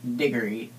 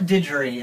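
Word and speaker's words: Digory: a little English boy named diory and not digy as I pronounced it before diory official English pronunciation little boy named diory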